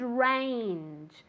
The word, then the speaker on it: range: A wide range. A wide range. Be careful with that G at the end. Range. It's like a CH, but softer.